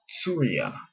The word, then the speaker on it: Syria: and they're up there in what is now Syria, but it really probably should be pronounced Surya and then Ashurya is Assyria. So it sounds actually a lot different in the in the languages that comes from in English.